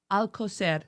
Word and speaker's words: Alcocer: Health Minister Jorge Alcocer. Oh, how do you pronounce that? Alcocer.